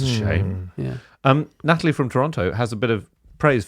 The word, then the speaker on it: Toronto: We do in fact pronounce the city Toronto.